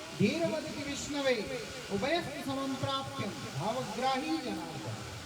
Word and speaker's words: विष्णवे: इसीलिए बोला मूर्खे वदति विष्णाय धीर वदति विष्णवे उभयस्तु समं प्राप्यं भावग्राही जनार्दन। मूर्ख व्यक्ति विष्णाया बोल रहा है कि गलत उच्चारण। बुद्धिमान व्यक्ति बोलते विष्णवे नमः, लेकिन क्या होता है,